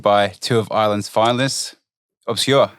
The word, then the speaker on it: Obskür: OBSKÜR, how are we? Good, man. Thanks for having us on, lads. OBSKÜR or OBSKÜR? OBSKÜR.